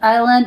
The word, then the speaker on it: island: Island S is silent.